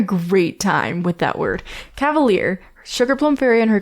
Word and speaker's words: Cavalere: fairy and her um Cavalere. I tried to mispronounce it again. Um I keep missing mispronouncing it cuz I read it and my brain's like cavalier. Cavalere like that's not Cavalier was the was one of the ones I had.